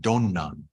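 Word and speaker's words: 曇鸞: Or in Japanese, it's pronounced Donnan. Donnan.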